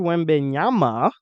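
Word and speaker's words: Wembanyama: face so apparently Victor when benyama is that how you pronounce it yeah yeah it sounds like Yamaha it looks like Yamaha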